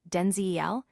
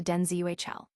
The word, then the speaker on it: Denzel: name's pronunciation, revealing that the way most people say it, Denzel, is not in fact the way it's supposed to be said. The correct pronunciation, he clarified, is closer to DenzuL.